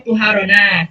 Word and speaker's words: طهارة: Amma tuharona. Sekarang di sini nih. Ini perbedaan. Kalau tadi kan to-nya itu di fathah. Kalau sekarang to-nya itu di doma. Jadi bacanya tuharo.